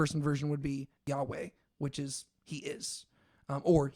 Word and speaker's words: Yahweh: they do vowels is they just put the vowels from Adonai into that. And so it's Yahovah, which is where we get Jehovah. And so we know that it's not pronounced Yahovah, but it probably was something along the lines of Yahweh or something like that.